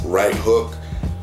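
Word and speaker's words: Rite Hook: So shout out to Right Hook, even though it's spelled R-I-T-E, and it's Right Hook.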